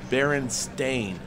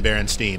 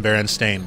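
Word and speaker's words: Berenstain: s i n and it in reality is Baron stain there's no way it was that huh interesting has never been baronin it's always been baren stain but I that's just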